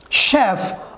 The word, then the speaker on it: chef: If you will see words like chef or parachute, if you will see CH in chef or in parachute, this means that this CH pronunciation is French pronunciation.